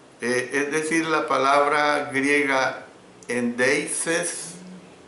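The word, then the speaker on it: ἔνδειξις: Es decir, la palabra griega endeises, cuando pronuncio endeises es con letra X.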